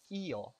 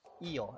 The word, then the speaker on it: io: And the word for something is io, io, and it's spelled I-O.